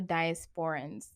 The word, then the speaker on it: diaspora: as diasporians, there comes a time, Is it diasporians or diasporans? As part of the diaspora. No, as part of the diaspora. Diaspora. I'm putting the emphasis on the wrong A.